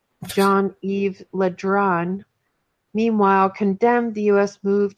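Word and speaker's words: Le Drian: minister jean-yves after now to pronounce this john eve Letran meanwhile condemned the US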